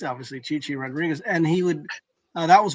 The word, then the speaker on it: Chi-Chi Rodriguez: He would he's in the news business but he would mispronounce you know Chai Chai Rodriguez obviously Chi-Chi Rodriguez.